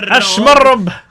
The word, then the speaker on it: Ashmarob: Ashmarob with the rolled R.